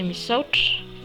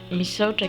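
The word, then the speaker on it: misaotra: Pour merci, c'est misouch. Misouch qui s'écrit comme ceci.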